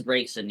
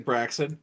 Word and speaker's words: Braixen: pronouncing it incorrectly all this time. It's Braixen, yeah. Have you been saying Braxton?